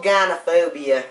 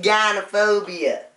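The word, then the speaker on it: gynophobia: biggest fear it's cold Ghana phobia what's going to fall by oh it's pronounced Dinah phobia it's fear women oh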